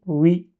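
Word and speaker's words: وِ: Waw avec kasra, c'est oui. C'est comme un oui en français. C'est exactement ça.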